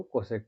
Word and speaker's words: cosec: को coat, SEC को सेक और COSEC को कोसेक पढ़ते हैं।